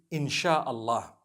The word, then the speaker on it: inshallah: ya, they pronounce it, they pronounce the s y the way we pronounce sh. So they can write it how they want for as long as when people read it, they read it inshallah because a transliteration means nothing.